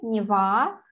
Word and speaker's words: Нева: Река в Питере, Нева, ударение на А, и на берегу Невы, да?